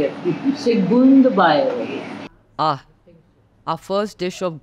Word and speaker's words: Segundo Bairro: Evelyn, tell people how to pronounce the name of this restaurant. Segundo Bairro. Lovely. Bernardo restaurant. Now you know from a Portuguese speaker how to say it. Segundo Bairro.